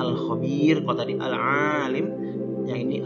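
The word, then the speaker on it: الخبير: Ya, bacanya Al-Khabir.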